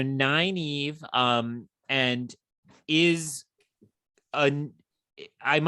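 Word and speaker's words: Nynaeve: woman named n Neva ninev n n is the worst pronunciation of that name but it's the one Robert Jordan went with okay so nine Eve um and is an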